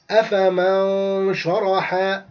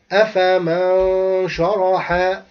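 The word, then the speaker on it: أفمن شرح: So I will not say أَفَمَنْ شَرَحَ, but I will say أَفَمَنْ شَرَحَ. Look, if you noted, I didn't say the noon clearly. I hided the noon in sheen. Again, أَفَمَنْ شَرَحَ, أَفَمَنْ شَرَحَ.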